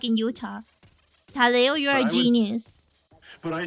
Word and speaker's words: Utah: Like in like in Utah, you're a genius. But I say Utah like Utah like a Midwesterner.